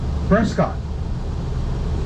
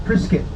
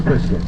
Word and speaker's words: Prescott: But if you talk to people who live in Prescott, they will correctly tell you, no, sonny boy. I live in Prescott. Oh. I said, okay, but it's spelled Prescott. No, son, it's Prescott.